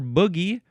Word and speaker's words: bogey: It is from the Latin formidare, which means to fear, from formido, which means terror, or boogie, or maybe you'd pronounce it bogey, because that's how it's spelled.